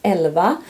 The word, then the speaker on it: Elva: This is Elva, like fairy.